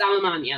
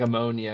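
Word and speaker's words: Allemagne: be a lot earlier because it's almania like you know whatever in French almania almania I thought it was like ammonia or something so then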